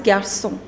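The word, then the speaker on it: garçons: gerson even that is garsung so you do not pronounce the last consonant which is s okay so you make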